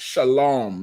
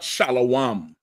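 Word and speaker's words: שלום: So it's shalom like law. Like you would say shalom because of how it sounds. We just say shalom. You get the point? They see it and say, "Yeah, the Jewish man is correct in trying to say shalom." when they don't understand it. It's we talking a stamar. You get the point? But it's not shalawam.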